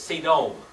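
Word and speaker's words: סדום: solder all right Sodom yet actually in Hebrew it's C dome alright but we use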